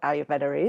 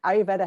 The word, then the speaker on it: ayurveda: of overview of what ayurveda is it's a awkward one to pronounce in English it's got that little r in the middle there that you kind of don't really hear so it's made up